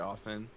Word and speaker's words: often: I see that quite often. At least he doesn't pronounce the T in often, though.